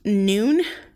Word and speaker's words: Nun: play on words because it's pronounced noon even though it looks like none and i thought it